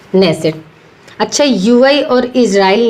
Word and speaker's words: Knesset: तो नेसेट। इसकी स्पेलिंग आप याद रखना, नेसेट की KNESSET। क्या है? KNESSET, नेसेट।